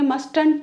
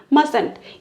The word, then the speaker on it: mustn't: है मस्टर्ड right पर ये मस्टेंट नहीं पढ़ेंगे हम पढ़ेंगे मसलत ये जो टी है वो साइलेंट है ठीक है सो मस्त